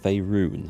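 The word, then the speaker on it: Faerûn: greater sickness in faerun I'm glad someone actually told me eventually how to pronounce that word faerun I'll have to try and remember it's pronounced like that and not favor unlike my ignorant Yorkshire upbringing would suggest how do I destroy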